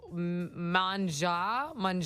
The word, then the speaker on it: Pret A Manger: I'm like, Pret a Manger. I don't know. That's how it's spelled. I went the phonetic route. Someone said it's manja. It's French.